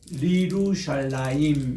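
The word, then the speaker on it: לירושלים: 슈바가 같이 될 때는 그러니까 예루살렘을 위하여 할 때는 리루샬라임 이렇게 됩니다. 따라합시다. 리루샬라임. 예루살렘, 그러니까 이게 예루살렘의 본래 발음이라는 거 예루살렘 이렇게 되고요.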